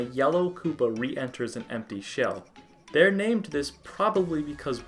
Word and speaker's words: shi: The number 4 in Japan, if you're not aware, is very superstitious and often avoided, as it can be pronounced as she, the word for death.